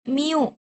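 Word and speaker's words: μ: Cara penyebutannya kayak suara kucing ya. Kita plesetin dikit ya. Miu cara membacanya adalah miu.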